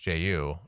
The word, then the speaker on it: Jai: Obviously, uh they they got a new coach, Jai Lucas, I think his name is. He was an assistant at Duke. Yeah, they he actually pronounces it J.